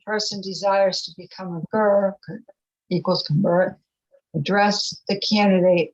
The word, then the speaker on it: ger: desires to become a ger, equals convert, address the candidate as follows. What reason have you for desiring to become a ger? Don't you Ger. know that Ger is how you pronounce it.